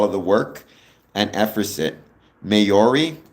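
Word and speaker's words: Māori: Mayori, not Mayoris. I'm the worst at pronouncing things.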